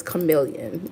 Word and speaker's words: Chameleon Avenue: I support is called shim I Section million but it's chameleon you know I have